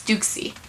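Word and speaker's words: Douxie: Oh my gosh, I call him Deuce. Okay, but you know, after I learned how they pronounced it, it's Dukesy.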